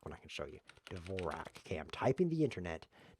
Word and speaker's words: Dvorak: what they do is they think Dvorak which they shouldn't think they should think Dvorak because that's the correct pronunciation of the famous composer who isn't the guy